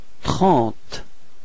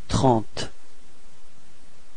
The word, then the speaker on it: trente: And then we get this trente. Alright, so keep in mind that final is not pronounced, it only gives you the possibility to be or to pronounce the T coming before. So it's trente.